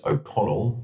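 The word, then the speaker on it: Ó Conaill: Firstly, how do I pronounce? And secondly, what led you to writing? Well, it's pronounced Okonnell.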